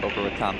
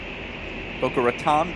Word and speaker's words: Boca Raton: Allison Isaacs, out of Boca Raton, Florida. Boca Raton, Boca Raton, I'll accept either pronunciation.